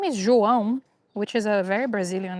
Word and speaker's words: João: That sound is ow. So, João.